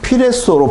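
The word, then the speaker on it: πυρέσσω: 피레소로 발음하는 헬라어인데요.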